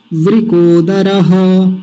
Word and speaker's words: वृकोदर: उच्चारण है व को व को नहीं व कोदर व कोदर य उच्चारण हो गया मेरे साथ बोल दीजिए इसको दो बार वृकोदर वृकोदर अब एक